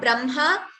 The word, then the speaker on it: Brahma: So in the word Brahma, Ma is first, Brahma. Though it is written as Ha with the Ma below, the pronunciation is Brahma.